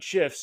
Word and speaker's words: GIF: how to insert animated GIFs directly from Giphy using Mailchimp's tools. Let's get into it. GIFs are a fantastic way to grab attention in your emails. And yes, it's pronounced GIF. Come at me.